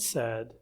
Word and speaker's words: said: The pronunciation doesn't work, but the writing and the spelling, they do have something that's worth taking note of, which is that they pronounce them differently, said and paid, but they do follow the same spelling transition.